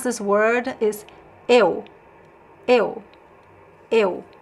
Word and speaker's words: eu: I'll pronounce this word is eu. Eu. Eu. So the first sound is e, and the second sound is u. Eu.